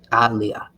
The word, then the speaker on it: Aliyah: Now I'm not talking about Leah, but in this business, it's Aliyah. Aliyah, actually, that's how you pronounce it.